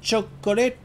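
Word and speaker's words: チョコレート: que j'aime beaucoup dont dire chocolat en japonais ils disent Chuck coller et ça me fait délirer c'est tout simplement de chocolate en anglais mais prononcer à la japonaise mon chapeau Pépito là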